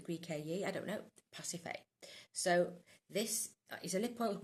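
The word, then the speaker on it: Pasiphaë: p h a e so it's pacif CU pH is f isn't it pacif a or pacifer because it's Greek the Greek a I don't know pacif so this is a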